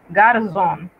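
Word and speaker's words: garçon: Por eso, cuando usted la ve escrita, debe pronunciarla como una Z, como en garzón, que significa muchacho, y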